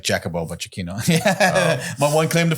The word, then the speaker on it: Giacchino: I also get some of those things in Lost, which is Michael Giacchino. Oh, he's Yeah. so good. But Is that how you say it? yeah, Giacchino?